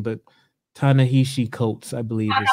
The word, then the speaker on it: Ta-Nehisi Coates: I was watching a YouTube video this week, actually, as a matter of fact, and I hope I don't mispronounce his name, but Ta-Nehisi Coates, I believe is how you...